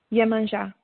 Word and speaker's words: Yemanjá: Do you pronounce it again? Yemanjá.